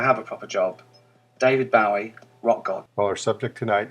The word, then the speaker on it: Bowie: going to use an American version of his pronunciation buoy as opposed to the British pronunciation Bowie you'll hear in a rear segment they pronounce it Bowie but in true David buoy fashion he pronounced it Bowie but he allowed us Americans to do it